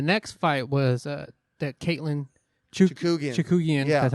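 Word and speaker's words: Chookagian: The next fight was that Caitlin Chukugian.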